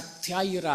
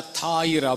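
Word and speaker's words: θύρα: Door के लिए वहां पर जो यूनानी शब्द है THURA, लेकिन उच्चारण उसका थ्याइरा है. थ्याइरा या थाइरा बोल सकते हैं.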